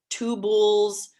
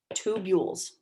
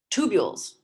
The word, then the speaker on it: tubules: call them tubules and it's not pronounced two bulls or two belays it's pronounced tube yules tubules actually sorry i did that my phonetics is wrong it should be here we go tubules i'm not very good